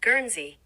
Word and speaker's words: Guernsey: my American ass doesn't immediately know how to pronounce the word gery gery huh I got it right assuming you can